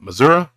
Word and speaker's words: Missouri: down in uh uh missoui or as you would call it Missouri I noticed that yesterday